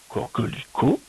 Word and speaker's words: coquelicot: Ah, coquelicot, c'est à nouveau devant un O. C'est la même syllabe qu'au début, qui a deux fois le co. Co, que, li, co. Une lettre muette qu'on n'entend pas.